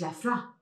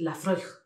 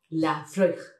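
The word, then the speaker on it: Laphroaig: Entonces se pronuncia mucho Lafroa. Y no es Lafra, es Lafroig. Lafroig.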